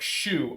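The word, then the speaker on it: choux: good pair no like Chow is pronounced like Shu oh as in shoe pastry gotcha I'm sorry I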